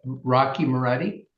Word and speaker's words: Rocky Moretti: Rocky Moretti is the correct pronunciation of my name.